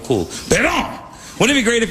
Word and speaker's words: Parent: a guy named Bernie Pedon. Pedon, but spelled parent. Pedon, but spelled parent, but French do that. They make ENT silent, all their words, the words sound cool. Pedon!